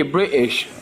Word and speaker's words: British: British is silent T. British.